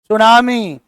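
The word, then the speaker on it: tsunami: पूरा का पूरा साइलेंट देखो क्या लिखा हुआ है सुनामी और टी कहां गया हमको तो अंग्रेजों पर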